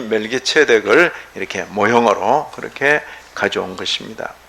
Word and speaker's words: 멜기세덱: 멜기체덱. 멜렉이라는 단어인데 멜렉은 왕이에요. 왕. 의의 왕이에요. 멜기체덱. 체덱이에요. 체덱. 그러니까 이게 우리말로 이렇게 기록하는 그 발음이 오히려 멜기체덱하지. 근데 멜기세덱 해놓으니까 자꾸 세덱인 줄 알아.